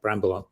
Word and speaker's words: Brambell: uh video uh so Bram Bell Bramble is pronounced but spell Bell find me on LinkedIn